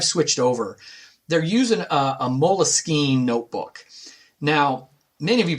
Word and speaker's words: Moleskine: So in I can't speak French, but it's Moleskine is like the French pronunciation. Sometimes you even hear people say Moleskine with a little accent on the E.